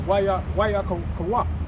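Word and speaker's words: ויקרא: Wayakawak.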